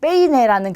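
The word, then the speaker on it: peine: 그래서 끝에서 두 번째로 갔더니 에, 이 이렇게 두 개가 왔어요. 자, 에는 강모음이고 이는 양모음이에요. 그러면 에의 강세가 오겠죠. 이렇게 했을 때 베이네 이렇게 하시면 돼요. 우리 머리를 빗는 빗이에요. 그렇죠? 베이네 이렇게 강세를 찾아주시면 돼요.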